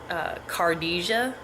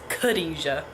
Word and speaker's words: Khadija: was friends with, and if you just read her name the way it looked, it would be Cardisia, and she would always tell people, no, that's not how you say my name, it's Khadija. Khadija, not Cardisia, Khadija.